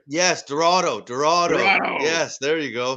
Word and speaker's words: Dorado: uh oh all i can think of is dodaro and i know it's not that no it's the the cheetah guy uh uh look oh len silverado i didn't say it right yes dorado dorado yes there you go see that's what